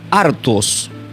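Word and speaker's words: ἄρτος: ya lo hemos aprendido hace un momento que es acusador, pero la palabra pam del griego es escrito como artos.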